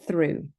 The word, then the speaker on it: through: Through, it's oo.